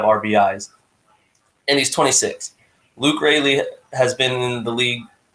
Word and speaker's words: Raley: I don't know how to pronounce it, and so it made me feel dumb. But I think it's Raley. Yeah, I think it's Raley.